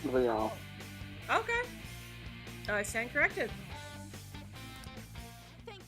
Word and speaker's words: Cendrillon: I think it's supposed to be pronounced Cinderellian though. Nothing too reckless, okay? It's like she said Cendrillon, but I'm fairly certain that's actually supposed to be pronounced Cinderellian. No, it's French. Oh, So okay. it's Cendrillon.